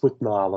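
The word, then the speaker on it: Withnail: it's it's a bit like how do you spell that um w i t h n a i l oh with nail and I yeah I I prce things a little differently but yeah it's with Nile and I yeah uh yeah yeah just I've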